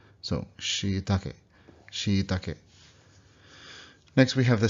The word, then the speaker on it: shiitake: In English, we say shiitake, but of course, that's not how a Japanese person would say it. Now we see that there's the doubled E there, so it should be she, right? And then the, not taki, but take.